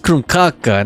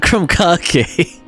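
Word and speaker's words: Krumkake: Krk is a real thing, but it looks like actually it's pronounced krkaka, not kakeake.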